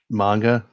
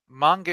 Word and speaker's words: manga: you all say it manga how do you say it Ned manga is closer to correct manga is the colloquial u.s. term I say Mughal but